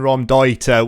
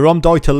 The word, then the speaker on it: Raumdeuter: are you doing today's tactic is the 4-2-3-1 ROM Dieter which is the German pronunciation for space invader so it's been made